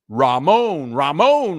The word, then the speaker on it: Raymond: Raymond, pronounce Ramon.